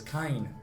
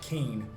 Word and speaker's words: Kain: So one of the things, yeah, it's pronounced, at least in Japanese, as Kain, not Kane.